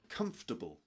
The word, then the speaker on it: comfortable: Comfortable. Comfortable. Pretend it's spelled like this. Three syllables. Comable. comfortable.